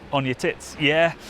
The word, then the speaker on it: Uneticky: village of Uneticky, which we were told is pronounced Uneticky.